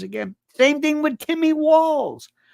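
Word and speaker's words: Walz: same thing with Timmy walls whose name people can't pronounce they say Walts I don't know why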